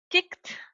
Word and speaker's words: kicked: When I say kicked, I say K and T, right? The ED is a T, the sound of T, kicked.